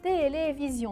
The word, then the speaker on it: télévision: لا تيليفزيون. انتبهوا منيح كيف تلفظوا. ما فيها حرف الاف، فيها حرف الفي. لا تيليفزيون. En français on ferme la bouche بالاخر.